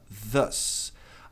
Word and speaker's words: thus: Tem que pronunciar o TH colocando a língua entre os dentes, produzindo um som de Z. Thus.